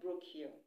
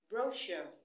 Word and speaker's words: brochure: the third is Cash yeah cash just like pronouncing c-a-s-h as well cash we also have brochure not Brook here brochure brochure brochure we have on my list as